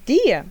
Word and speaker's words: Dire: Porém, no servidor japonês, o nome de Crowley é pronunciado como Dia, que é a mesma pronúncia japonesa da palavra em inglês dear, que significa querido.